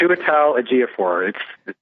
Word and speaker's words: Chiwetel Ejiofor: Then you have 12 Years a Slave guy, whose name I'm not going to attempt to pronounce because I'll butcher it. Chiwetel Ejiofor.